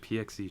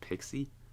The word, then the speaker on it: PXE: I keep calling it PXE just because that's how it's spelled. But I Uh-huh. think it's pronounced Pixie.